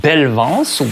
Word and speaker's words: Belvans: It is coming from a brand called Belvans, which is a mixture of two French words, belle, which means beautiful or pretty, and vance, which rhymes with elegance.